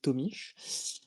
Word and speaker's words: Tomić: Alors notre auteur donc s'appelle Ante Tomish. Euh a priori, c'est comme ça qu'on le prononce à peu près euh comme le l'annonce